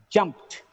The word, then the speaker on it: jumped: When it gets ED, the pronunciation should be jumped, jumped. It is not jumped. It is not jumped, jumped. The sound should not be there. It should be t, jumped. And capped, capped, slapped, slapped, clapped, clapped.